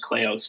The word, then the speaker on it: Kleos: that was integral to clios and the name cleos actually is it's an ancient greek term it's actually pronounced cleos but um it's sort